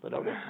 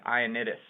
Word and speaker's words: Ioannidis: Loannidis? I don't even know why you went for it, but it's an I, so it's Ioannidis.